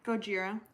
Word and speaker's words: Gojira: Gojira.